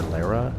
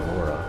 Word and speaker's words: Lara: I'm going to call her Lara. That's how her name is spelled. Everyone just calls her Laura, but when there's going to be enemies to fight, Lara takes her gun out.